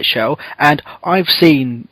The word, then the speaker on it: Chell: There's a lot of people who look like Shell, or Chell, as apparently I've been told that I'm saying it wrong.